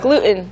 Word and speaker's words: gluten: 살짝 Gluten. 멈췄다가 가는 것처럼 발음을 하는 경우 많죠.